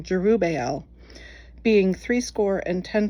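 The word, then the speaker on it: Jerubbaal: And he went unto his father's house at Ofra, and slew his brethren, the sons of Jerubu, Jerub, excuse me, I was pronouncing that wrong. Jerubel, being three score and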